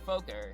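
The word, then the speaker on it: Fokker: she is right there or Folker is how I would pronounce it not to in order to like prevent the f yeah but here's the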